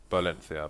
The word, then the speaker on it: Valencia: On in on Inferno they say victory and uh some in some different regions of Spain they al they pronounce it Balencia but I don't think the Valencians pronounce it.